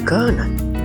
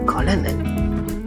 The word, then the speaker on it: Colonel: It pronounced Colonel, not Colonel.